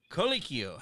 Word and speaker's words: Colicchio: his name please welcome to the show vic colicchio how you doing my friend good you know